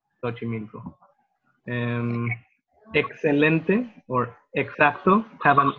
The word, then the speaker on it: Xochimilco: For example, it can be like an S, like sound. For instance, there's a place in Mexico called Xochimilco, and it starts with an X, Xochimilco.